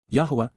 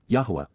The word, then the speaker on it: Yahweh: Yahweh, Yahwa, the proper pronunciation of the name of Aloa, God as